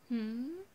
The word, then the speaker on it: Hum: You can call me Hum, which that's my page name, which is supposed to be pronounced like Hmm.